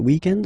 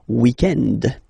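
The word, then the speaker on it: week-end: we're talking about the weekend okay but then pronounce it the French way weekend the weekend okay but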